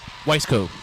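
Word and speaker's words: Wiseco: Weisco.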